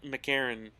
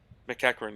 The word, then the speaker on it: McEachran: Hoffman, Tanner Kaspic, Mackenzie McCarron. I don't know if that's how you actually pronounce his name. I think Curtis it's McKenzie. McEachran. McEachran, yeah, that's Yeah. actually sounds right.